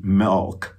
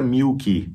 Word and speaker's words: milk: E esse I é um I meio E. Sabe leite? Milk, milk, milk.